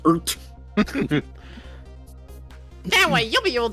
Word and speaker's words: RT: Excuse me, that's pronounced ert.